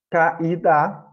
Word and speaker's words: caída: Aqui é uma vogal, porque o I ele é tônico, né? Uma sílaba tônica. E é claro, gente, só para lembrar, aqui, tanto nesse exemplo do caída, como no caso do país, o I, ele é a sílaba tônica. Por quê? Por causa do acento gráfico.